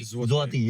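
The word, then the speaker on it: złoty: वैसे उसको पॉलिश में बोलते हैं जुती। जुआती। जेड एल जो है ना वो कटा हुआ है। तो कटा हुआ एल को ये लोग वी बोलते हैं। ओके। [गला साफ़ करने की आवाज़] इंग्लिशटे बोल सकते हैं। इंग्लिश में जलोटे।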